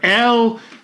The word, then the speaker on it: Elle: So I thought we'd finish off in tribute to Ellie or Elle. What's the name again? It's either Elle Hunt or Elle Hunt. It's spelled E-double-L-E. It's not M Hunt.